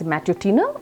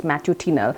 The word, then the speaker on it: matutinal: It can be pronounced either as matutinal or it could be pronounced as matutinal.